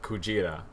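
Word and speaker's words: くじら: And the Japanese word for whale, which is Kujira. So Godzilla originally, in the like OG movie, you see it spelled and pronounced Gojira with like a J sound.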